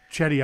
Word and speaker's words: Cedi: Chetty Osman for Cleveland. 4,800. Spelled like CEDI?